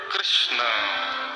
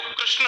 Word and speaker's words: कृष्ण: 3 प्रकार के लोग कृष्ण शब्द का अशुद्ध उच्चारण करते हैं। मैं आपको 90% लोग ऐसे दिखा दूंगा अभी पंडाल में भी जो कृष्ण शुद्ध नहीं बोल पाएंगे। आपसे बोलो बोलो कृष्ण बोलो, तो लोग कृष्णा बोलेंगे, कृष्ण बोलेंगे और कुछ